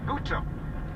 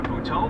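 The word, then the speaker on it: Butto: Added emphasis on the second syllable there for a reason, because since we saw this kid for the first time last year in Philadelphia, we've all been calling him Jose Buto.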